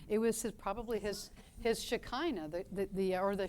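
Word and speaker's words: Shekinah: was probably his his shakina the the or the shakina as it's pronounced in Hebrew so God has his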